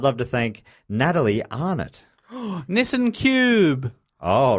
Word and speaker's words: Nissan: Nissan's another one Americans say different. Nissan. Nissan.